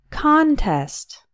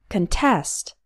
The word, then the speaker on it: contest: first prize is $500 the stress is on the first syllable and we pronounce it con contest we also have the